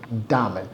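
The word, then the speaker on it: Dahmer: llama Jeffrey Jeffrey búsquenlo Jeffrey damel y dame se escribe de a H M e r damer es que si tuve foto de él era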